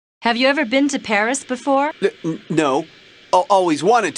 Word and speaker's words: Paris: of France live in Paris wow so this is Paris I can't believe that I've never visited the capital of France before yeah well the locals pronounce it Pari Carmen's conducted a lot